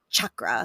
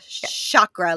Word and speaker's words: chakra: now we know everybody it's a chakra like a choo choo train not a chakra like a shoelace okay if you aren't